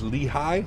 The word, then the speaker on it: Lehigh: Pronounced Lehigh.